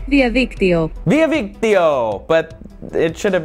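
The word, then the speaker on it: διαδίκτυο: In Greek, you would say, Diaviktio.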